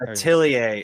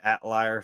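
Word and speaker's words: Atelier: Atilier is correct. My southern self has called it Atliar for so long, but it is Ailier.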